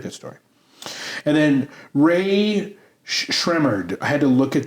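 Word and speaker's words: Rae Sremmurd: And then Ray Shremmerd. I had to look at the pronunciation guide this time so I didn't screw it back. Ear and drummer spelled backwards.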